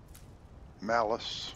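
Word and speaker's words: Mallus: Sounds like he's perhaps holds malice in his heart. Although it's not spelled the same. It's spelled totally different, but it sounds, it's a homonym sort of thing.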